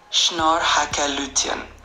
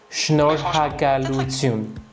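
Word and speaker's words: Շնորհակալություն: Le R est un peu plus roulé et le Y à la fin est un peu plus doux. Donc ça donnerait quelque chose comme schnor hakalun. Schnor haakalun.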